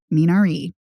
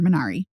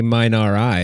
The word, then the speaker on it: Minari: that's my point well i pronounced it the korean way but you can also obviously pronounce it the american way yeah i mean there